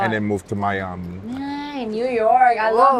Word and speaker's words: Miami: Yeah, and then after all of that, I moved to Miami. Bro, you're like a jet setter. Yeah, I Like, moved to. You have to say it like this. I moved to Miami.